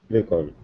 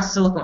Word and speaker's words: silicon: Silicon. Silicon. So, I said in the beginning silicone. It's not silicone, it's silicon. Without the E.